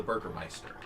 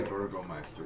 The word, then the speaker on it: Burgomeister: Apparently, they all listened to a man called the Burgermeister. And Oh, he is a Burgomeister. Yes, see, that oh, is is that the pronunciation?